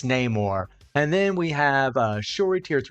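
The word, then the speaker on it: Namor: tier 4 for her name or I know they say no more in the movie but I don't like the way they pronounce it that's not correct it's name or and then we have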